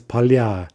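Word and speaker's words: поля: Polya, fields in the plural, becomes palya.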